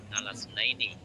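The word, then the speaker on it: اثنين: Hamzahnya lafal isna ini adalah hamzah wasol ya, sehingga membacanya adalah alasna ini ya, alasna ini ing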